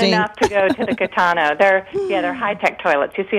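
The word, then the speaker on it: Kitano: Yes, Catano.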